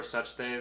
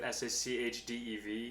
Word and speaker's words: Sachdev: and i'm saying it i always used to say my name like sachdev yeah yeah that's such that i've been saying it's yeah as you know